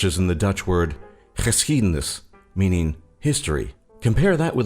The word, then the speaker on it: geschiedenis: It can get really tricky as a foreigner, for example, if you need to pronounce a G together with a CH sound, such as in the Dutch word geschiedenis, meaning history.